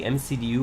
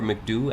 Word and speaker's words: MCDU: Like I was saying, I'm at the point where I'm ready to start programming the MCDU or McDoo. I've heard it pronounced both ways, so you can call it however you want.